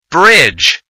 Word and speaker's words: bridge: silent letter is B Bridge the silent letter is d Edge the silent letter